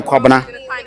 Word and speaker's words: Kwabena: So Kwabena? I'm Kwabana. Kwabena?